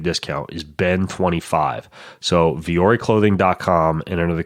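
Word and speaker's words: Vuori: get a 25% discount off of anything from viore you go to V or E clothing and it's spelled kind of weird vu o RI vu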